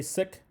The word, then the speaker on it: Sikh: question Sikh separates more some people say seek some people say sick you pronounce it either way 13 million flowers if